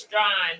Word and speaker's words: Strawn: Properly pronounce it. STRAUN. Strong. Some shit like Strong. that. Yeah, STRONE. It's Strawn, but it's STRAWN.